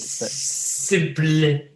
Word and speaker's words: SYMPL: SYMPL. So it's spelt a bit weird. But Simple.